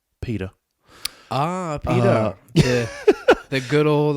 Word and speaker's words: PETA: go by the name p-e-t-a i believe it's pronounced pita ah peter the good old animal yeah and